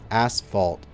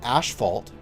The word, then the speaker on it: asphalt: I pronounce it Asphalt, which is why I did it that way, but it's actually Asphalt, right? Asphalt. Asphalt. Asphalt. That's what it's spelt like, but it's just not how I pronounce it.